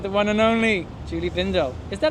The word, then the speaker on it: Bindel: I'm here with the one and only Julie Bindell. Is that how you say it? Some people say Bindell. Well, then they're wrong. It rhymes with swindle.